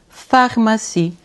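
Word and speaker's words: pharmacie: Suit ph de f aqui eu vou dizer pharmac.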